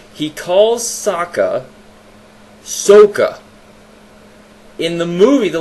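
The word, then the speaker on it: Sokka: way and another thing Saka s-o-k-k-a kka Saka using standard American English that is how that name would be pronounced Sako one of the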